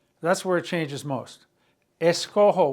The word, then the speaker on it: escojo: Escojo with a J. If you had a G, it'd be escogo. You have to maintain that nice smooth sound of the J, of the G.